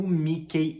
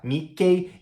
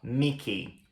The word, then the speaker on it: Mickey: gente vai pronunciar o Mickey e a Minnie, ou seja, a gente não fala Mickey e Minnie, a gente fala Mickey, Mickey e Minnie, Minnie. Então é Mickey Mouse e Minnie Mouse. Mickey Mouse, Minnie Mouse.